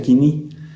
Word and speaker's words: koiné: hebreo, arameo o griego quiní. Se escribe koiné, pero se pronuncia quiní, y significa común, y ese es el que hablaba el vulgo, no el griego clásico.